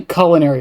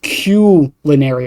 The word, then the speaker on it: culinary: So the reason it's pronounced that way is because the first 3 letters are CUE, like a cue ball.